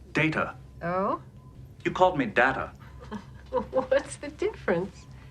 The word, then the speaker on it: Data: Data data my name is pronounced data.